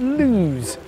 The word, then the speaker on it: Loose: the beautiful village of luz spelt loose but pronounced to rhyme with muse the landlord sure gets